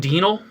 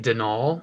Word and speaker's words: Denal: I've always called him Denal, but apparently it's more like Denal, I believe.